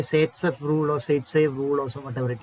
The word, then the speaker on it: Zaitsev: That rule is known as, it is ZAITSEV. It can be pronounced in different ways here.